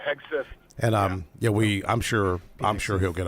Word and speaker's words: Hegseth: Hedgepeth. How do you say his last name? Yeah, Hegseth.